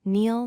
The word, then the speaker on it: kneel: For silent K, remember that K before N at the start of a word is silent. Common words include knife, no, night, kneel, not, and knee.